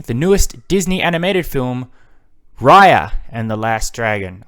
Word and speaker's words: Raya: and the last dragon i've been saying raya in my last couple episodes where i was getting ready for it and apparently that was wrong it took a while for them to say her name in the movie and they said it so forcefully as if to say to me specifically you've been saying it wrong no it is raya and the last dragon